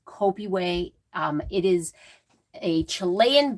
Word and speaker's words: Copihue: the copy way quilt it looks like copa hue that is not how you say it it is kopi way um it is a